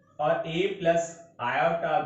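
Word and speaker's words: iota: देखिए स्टूडेंट्स, यहां पर ए विदाउट आयोटा, ये जो सिंबल है ना, इसको हम पढ़ रहे हैं आयोटा। समझ में आ गया, आयोटा प्रोनाउंसिएट करते हैं इसको।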